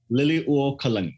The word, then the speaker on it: Liliuokalani: Liliuokalani.